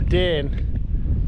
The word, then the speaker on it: Dane: It's thrown us out next to the Dane. I've been told that's how you pronounce it by a local, so if it's wrong, she was lying to me obviously.